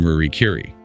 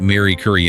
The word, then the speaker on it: Marie Curie: He mentions Michael Jordan, Martin Luther King Jr., and Marie Curie, though he pronounces it Mary Curie in the audio, which is unique. Mary Curie, yeah.